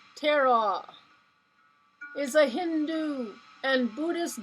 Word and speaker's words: Tara: She's pronounced Tara, is a Hindu and Buddhist goddess whose name means star.